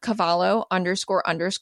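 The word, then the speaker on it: Cavallo: reach out to me on Instagram at cavalor Cravings coach my last name is spelled c is in Charlie a is in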